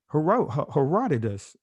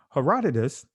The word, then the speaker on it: Herodotus: Herodotus, excuse me. Herodotus What some would say Herodotus I'll just say Herodotus, excuse me. Excuse the mix-up here. But Herodotus 450 BCE he says this.